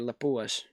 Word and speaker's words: Lapua: marked it using 338 Lapua instead of like five four sevens and I said lipu is even though I'm a fin myself I should say Lapua correct pronunciation but that's pretty much